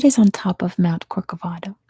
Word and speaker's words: Corcovado: What is on top of Mount Corcovado?